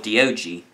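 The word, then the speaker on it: Diogee: hilarious stope it's really hilarious he has this dog called do g spelled it felt like di oggi e but it's pronounced like d OG dog that's the joke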